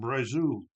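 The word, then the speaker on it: Brazeau: 68 Justin Brazu. Pronouncing pronounce it B R A Z E AU.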